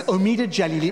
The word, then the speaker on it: Omid Djalili: even get my name right because we can pronounce this omeda jelly we even know what it means omid means